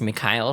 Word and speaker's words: Mikhail: The way it's pronounced in the starter guide is Mikhail Sword. A lot of people just say Michael Sword.